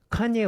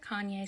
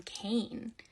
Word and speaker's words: Kanye: is 45 likes though I used to pronounce his name Kane because I'm a little dyslexic and that's how I read it but I was part